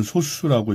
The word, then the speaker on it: 소수: 요게 소수라고 쓰지만 읽을 때는 소수라고 읽으면 됩니다.